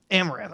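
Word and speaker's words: Amouranth: we talked about her before how do you pronounce that name uh amber smith amaranth okay she's pissing me out pissing me off amaranth uh and you know she hadn't inflatable pool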